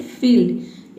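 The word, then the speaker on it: field: ठीक है, जैसे कि देखिए यहाँ पे है फील्ड। एक का हो जाएगा फ और IE का हो जाएगा ई। LD का हो जाएगा आधा ल और ड।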